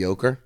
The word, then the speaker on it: Jokic: having a rough game, they should call him and pronounce his shit correctly. They call him the Yoker because he's laying eggs.